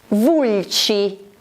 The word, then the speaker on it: Vulci: Vulci, Vulci, che è una città che si trova nella regione Lazio e che è un'antica città etrusca e romana. Vulci si scrive con C-I.